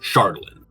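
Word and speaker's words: Chardalyn: Uh, and it turned it into this element called Shardlin. For those wondering how it's spelled, is C H A R D A L Y N.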